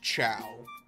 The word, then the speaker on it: Ciao: Why is that pronounced chow? I know it's French, but it's like C-I chow. Like ch.